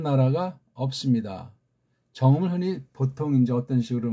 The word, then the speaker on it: 정음: 정음으로 하는 거예요. 정음. 정음. 정음. 정음. 그렇게 발음하셔야 돼요. 정. 정. 음. 음. 음자는 안쪽에서 나오는 거죠.